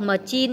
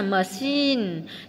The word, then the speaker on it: machine: Chữ chờ sẽ đọc là cờ. Chữ chờ đọc là cờ hoặc là sờ hoặc là chờ. Ví dụ là school, machine, không đọc machine nhá, machine. Chip.